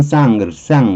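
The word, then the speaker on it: sans: 근데 still 여기 보면 still sends 영어로는 sends 불어로 그럴 때는 쌍 그럴 거예요. S 발음 안 할 테니까.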